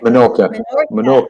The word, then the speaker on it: Menorca: Menorca.